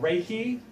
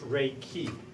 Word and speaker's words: Reiki: Some people pronounce it Reiki. I've always been taught that it was actually pronounced Reiki.